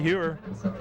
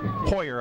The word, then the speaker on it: Hoyer: Checking in with the play, Andy Hewer. Is that how you pronounce that one? Hoyer, I would say.